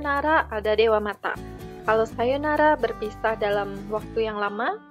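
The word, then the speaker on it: さようなら: kita gunakan untuk perpisahan Sayonara Sayonara itu artinya sampai jumpa ingat di sini ada Oh yang saya isi tanda seperti ini dibaca panjang Sayonara Sayonara Hai ini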